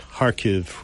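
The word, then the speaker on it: Kharkiv: stabilized the har front it's kha kiv pronounced harv really uh they've stabilized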